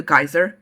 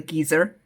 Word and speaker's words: geyser: But a geyser, that when hot water rushes out of the ground, a geyser, not a geyser, as the audiobook narrator pronounced it.